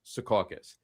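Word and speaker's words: Secaucus: And I say this to everybody that fights with me that it's pronounced Sukauus.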